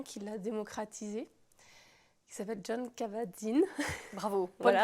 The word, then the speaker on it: Jon Kabat-Zinn: Et en fait, la méditation, il y a vraiment un Américain qui l'a démocratisée, qui s'appelle Jon Kabat-Zinn. Bravo, bonne Voilà.